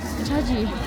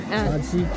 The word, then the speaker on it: Shaxi: Oh, look, Chaji. Let me ask. How do you pronounce this one? This one? Shaxi.